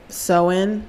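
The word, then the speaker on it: Samhain: back to the ancient Celtic Festival of um seen that's how it's pronounced but it's spelled sa a Sam S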